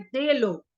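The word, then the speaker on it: delogs: एक शब्द होता है उसका स्पेलिंग होता है डी ई एल ओ जी एस लेकिन उसको प्रोनाउंस प कैसे करते हैं दे लोग दे लोग ऐसे बोलते दे लोग तो ये क्या होते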